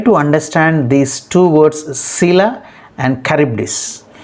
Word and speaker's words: Scylla: words sila and charybdis now how they are pronounced as c-y-l-l-a sila it is pronounced s-c-y is pronounced as c as in sit and a is pronounced as a as in china so finally it has to be pronounced as sila c is to be stressed and let us see